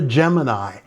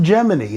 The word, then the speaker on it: Gemini: And yes, I know it's written Vera Gemini, but Albert pronounces it Gemini, and since he co-wrote the song, I'm going with his pronunciation on this one.